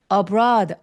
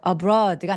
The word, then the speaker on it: abroad: t 발음해 주시고 그다음에 abroad 할 때 B는 입술이 완전 꾹 닫혀 있어야 돼요. abroad abroad이가 아니라 abroad a br 하면서 진짜 입안에 공기가 꽉 차 있다가 터트어내듯이 피발음하고 비발음하고 똑같거든요.